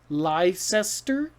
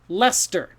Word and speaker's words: Leicester: another similar one oops is is that lycester no lester so worcester and lester the two words look crazy but they actually rhyme okay and uh so